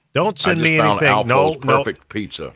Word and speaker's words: Alfo: How you pronounce his name? ALFO.